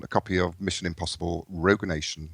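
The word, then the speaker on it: Rogue Nation: copy of Mission Impossible Rog Nation not Rouge Nation on Blue I said it right quite proud did say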